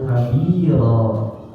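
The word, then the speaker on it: كبيرا: Ya, jadi Allahu Akbar kabiro. Jadinya gitu kan. Kabiro. Jadi ronnya itu yang ujungnya itu ada alifnya, gitu, ada alifnya.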